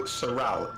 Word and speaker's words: Saral: You pronounce it Saral.